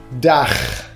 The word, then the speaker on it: Dach: The first thing is like the German word Dach. The CH at the end means you have to pronounce it like sounds funny, a little bit like snoring, I know, but it is like this. So, Dach.